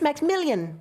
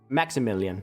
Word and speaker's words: Maximillion: It's Max Million. I think I've been pronouncing it Maxmillion, but it's Maximillion.